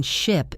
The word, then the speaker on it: ship: The vowel sound in ship is short and sharp.